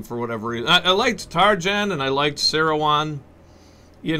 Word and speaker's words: Tarjan: he's playing james targen i always liked tarjan i it may be pronounced taryan but uh he's an american so tarjan and he became a